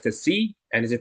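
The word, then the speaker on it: ξ: So this is pronounced Kc, and this is pronounced eta.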